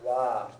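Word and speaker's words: は: Wa. wo, Whoa. and Particle. particle wa. Wa. So when it's a particle, it's pronounced wa, even though the letter is ha.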